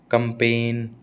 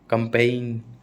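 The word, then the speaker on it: campaign: Assign, कंपेन, कंपेइन, पैराडिम, ठीक है, पैराडाइम, पैराडिग्म नहीं बोलते, मैं इसको पहले पैराडिग्म बोलता था, पैराडाइम, है ना।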